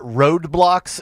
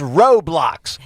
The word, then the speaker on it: Roblox: I call it Roadblocks. And my daughter's like, "It's Roblox." R O B L Ox. Roblox.